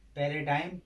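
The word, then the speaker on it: paradigm: जी आया है लेकिन उसका उच्चारण नहीं हो रहा है। इसका उच्चारण क्या हो रहा है, फ्लैम, फ्लैम माने क्या होता है कफ। अब इसमें भी पैराडाइम, पैराडाइम माने मिसाल, परमाणु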